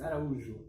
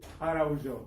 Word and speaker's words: Araujo: That's almost, but you are the best one yet. Really? Yes, it's Araujo. Araujo.